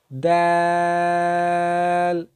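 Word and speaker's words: دال: জিহ্বার আগা উপরের দুই দাঁতের গোড়ার সঙ্গে উচ্চারিত হয় দাল।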